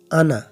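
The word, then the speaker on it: أنا: এটা এটার আলিফ পড়তে হবে না। আনা হামজা জবর নুন জবর আনা আলিফ পড়তে হবে না আনা এর উচ্চারণ করলেই হবে এর মত উচ্চারণ করলেই হবে এই আনা শব্দটা আমি শব্দটা কোরআনে প্রায় 68 বার আসছে এটা মাত করে পড়া নিষেধ অর্থাৎ আনা পড়লেই হবে আরেকটা দেখুন আনামিলা আনামিলা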